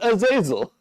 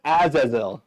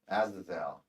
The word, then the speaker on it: Azazel: The history of man in pronouncing this demon's name, has referred to him as Azazel. And what do they say? Yeah. How do they Azazel. Azazel. No. Azazel.